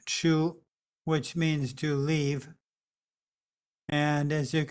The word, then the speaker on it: 出: Oh, 我写错了，这个应该是写出，不应该是往。所以是一个之，然后那个有的时候我们可以看下面的那个，好像是一个山洞。这个字读看，它不一定是一个 cave，不一定是一个山洞，可是它有的时候是一个盒子。有的时候是一个房子，这个就是一个构建。So this character, it should be pronounced chu, which means to leave.